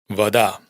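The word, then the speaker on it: вода: En resumen, si la sílaba átona está justo antes de la tónica, pronunciamos a.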